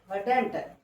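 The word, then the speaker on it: hadn't: अब इसके बाद यहाँ हैड नॉट है तो हैडंट, हैडेंट।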